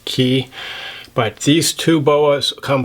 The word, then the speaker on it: Cay: boa types are called ke boas spelled c a y some people pronounce it K I think technically it's key but these two boas